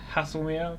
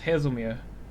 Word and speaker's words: Haslemere: mirror i originally put i originally pronounced it as hasselmere because that's what came to mind first but then i started watching other youtubers and i started to pronounce it as hazelmere oh you're going left